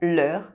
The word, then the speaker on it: leurs: Only the number counts: "leur" is used with singular objects and "leurs" with plural objects. LEUR and LEURS have the same pronunciation.